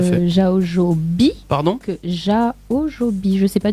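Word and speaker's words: Jaojoby: En fait, le A et le O, ça se dit O.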